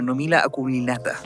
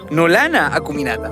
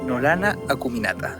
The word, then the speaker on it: Nolana acuminata: of being able to say look at a numina acuminata I pronounced nomina acuminata nolana acuminata look at a typical nolana acuminata the desert flowerbed from the outskirts of Copiapó